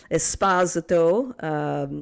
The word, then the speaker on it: Esposito: A big shout out to Felice Esposito. Yes, she likes her last name pronounced like that.